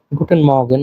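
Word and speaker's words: Guten Morgen: একটা জিনিস মাথায় রাখবেন এই জায়গায় আর এর উচ্চারণটা হয় না তেমন গুটেন মগেন এমন বলে আমার সাথে আবার বলবেন নিকুটেন মগেন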